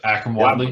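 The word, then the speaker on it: Akrum Wadley: Yep, Akram Wadley.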